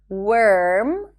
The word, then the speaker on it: worm: Do not pronounce the O in words that have the WO spelling, like work, work, worm, not warm, worth, and world.